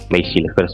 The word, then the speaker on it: Mees Hilgers: Memang terbukti ya Max Hilgers ya, pronunciation Belandanya adalah Max Hilgers ini seorang back tengah, tapi memang kan kualitasnya sih harusnya kalau dinaturalisasi itu lebih baik dari yang ada sebelumnya.